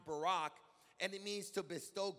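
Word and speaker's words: בָּרַךְ: word bless is a hebrew word and it's pronounced barack and it means to bestow good it means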